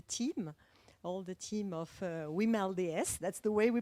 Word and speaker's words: WiMLDS: to congratulate the team all the team of we mailed yes that's the way we pronounce it and for the this initiative and